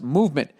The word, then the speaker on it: MVMT: and clean original designs mvmt pronounced movement grew into one of